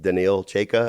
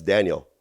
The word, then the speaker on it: Daniel: and I've been informed oh it's instead of is it danil cha it's Daniel it looks like danil but the other Russian